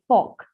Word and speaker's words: pork: Then जो आपका पिग से मीट आता है उसको पॉर्क कहते हैं, PORK, पॉर्क. ठीक है, R इज साइलेंट, पॉर्क.